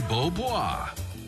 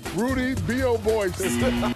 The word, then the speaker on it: Beaubois: Actual pronunciation, Roddy Beaubois. Rudy B.O. Boyce.